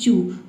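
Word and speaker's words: chew: जैसे कि चू। चू में देखिए सी एच के बाद ई डब्ल्यू आया है। ठीक है? तो इसे हम उ पढ़ते हैं ई डब्ल्यू को। सी एच का च हो जाएगा और ई डब्ल्यू का हो जाएगा उ।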